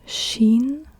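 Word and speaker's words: شين: it's an S sinen and Sheen is an sh sh Sheen and seen and Sheen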